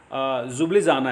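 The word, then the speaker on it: Ljubljana: Slovenia की राजधानी जुब्लिजाना है जी। इसमें एल साइलेंट रहता है।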